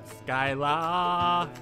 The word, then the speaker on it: Scylla: ball skyla all right that's pronounce it skyla i don't know you know what to